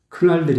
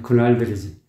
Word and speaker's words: 그날들: 은물이 흐르곤 했었던 그날들 큰 날들이 아니에요 그날들이지 그러니까 이런 부분 그 발음이 좀 항상 그 발음이 힘을 주다 보니까 습관이 돼 있어 보니까 그가 돼버리니까 그날들이 되어버리는 거예요 그날들 그리고 눈물이 흐르곤